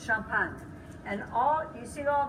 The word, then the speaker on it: Champagne: she was from Champaign she pronounced it the American Way it's Shum punt and all you see